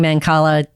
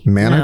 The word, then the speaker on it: Mancala: spell it out so that listeners can go research it? Manacala. Mancala? That's Mancala.